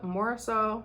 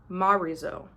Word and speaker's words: Morisot: And she did this whole collection, I guess, based on the artwork from Bertha Morisot. Oh wait, nope. Look, there's a pronunciation thing. Bert Marizo. Marizo. Go with that.